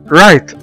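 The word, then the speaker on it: right: ما احنا شايفين قدامنا حرف الجي جه بعد منه حرف الاتش فبقوا الاثنين سايلنت ما تنطقوش مع بعض وقلنا رايت.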